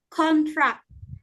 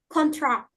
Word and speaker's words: contract: For example, contract. This is noun because stress on the first syllable, and contract. It is verb because stress on the second syllable.